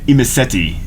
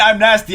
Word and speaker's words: Imesety: imy if you or IM imti IM okay imti I've been saying it wrong this entire time I've been saying I'm nasty anyway whatever shut up